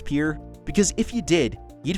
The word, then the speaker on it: Pierre: of South Dakota wrong she kept saying Pierre two syllables like the French name and he said it was pure one-syllable like what you fish off of he was sent